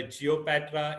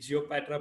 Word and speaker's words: GeoPatra: not cringed yet a geopatra is named geopatra because it rhymes with cleopatra and you know a